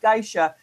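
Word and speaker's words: GAESA: The acronym is pronounced Gisha.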